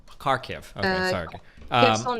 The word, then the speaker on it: Kharkiv: these like only happening like in the east and is it Kherson or how do you pronounce this? You mean like my hometown is Kharkiv? Kharkiv.